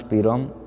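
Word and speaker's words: PROM: First is पी रोम, pronounced पी रोम, acromion के लिए programmable read only memory.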